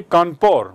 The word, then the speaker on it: Kanpur: Dekhiye Kanpur ki spelling aur iska uchcharan bhi Kanpur. Why? Because British people cannot pronounce Kanpur.